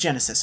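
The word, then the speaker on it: Genisys: out of the way that title my god it's like it's designed to misspell and mispronounce it's tailor-made to give your phones auto-correct an aneurysm gen isis jenny says weird to say out loud it's just genesis i'm saying genesis with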